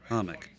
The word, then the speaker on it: hummock: m o c k Hummock humock Island mhm it's like a hammock but it's a Hummock uh and then it